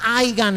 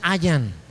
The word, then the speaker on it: hayan: No se pronuncia haigan, hermano, se pronuncia hayan.